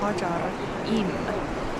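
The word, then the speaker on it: Ħaġar Qim: The guide just told how you really pronounce the name of this place Niin se on Hagar Qim ...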